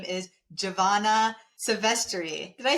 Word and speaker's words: Giovanna Silvestre: Her name is Giovanna Silvestre.